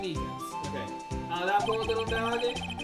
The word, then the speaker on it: Meekins: Oh, I was the one saying Meekins. Okay. That poor little doggy. Poor guy. I keep getting his name wrong, calling him Meekly. Other times I call him Miku.